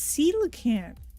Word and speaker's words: coelacanth: Pronunciation. Oh, it's coelacanth.